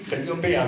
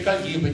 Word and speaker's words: Calliope: del Purgatorio, dice qui Calliopea quanto su Dante è costretto a mettere l'accento per l'esigenza di rima, non dice Calliope, dice Calliope, non a quanto su